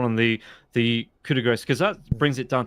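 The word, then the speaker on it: coup de grâce: Wait, I thought it's pronounced coup de grace. There's no C in it. The grace is gras, like that.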